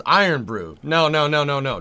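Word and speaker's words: Irn-Bru: nice James there you go some what it's pronounced iron Brew no no no no no knowing Scotland you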